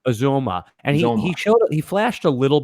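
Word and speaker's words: Uzomah: He's I think really it's Uzoma is how you pronounce his name. Uzoma.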